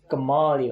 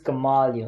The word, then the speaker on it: Kamali: know in there awesome what's your name Kamali oh but you can call me karma or if I'm really nice appeal its Kamali oh say it like you like ice cream but it took me